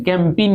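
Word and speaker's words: campaign: ए आई जी यानी कैंपेन इसको पढ़ना है क्या पढ़ना है कंपनियों देखिए ए और जी दोनों साइलेंट है ना कम पी एन कैंपेन होता है ना यहां इसके पढ़ते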